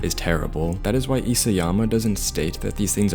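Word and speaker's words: Isayama: It's Isyama, not Isyama.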